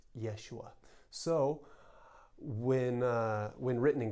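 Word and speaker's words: יֵשׁוּעַ: was written as Jesus in Hebrew Joshua's was pronounced Yeshua so when when written in Greek it was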